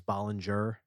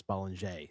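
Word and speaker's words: Bollinger: the bottle, everyone says Bollanger because that's how it's spelled, but it's French, so it's Bollanger.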